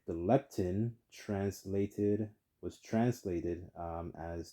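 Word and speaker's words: lepton: money of their own one piece was the leptin and it's spelled l e p t o n a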